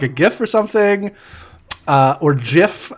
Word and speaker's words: GIF: gift for something or Jif as it should be properly pronounced but I just saw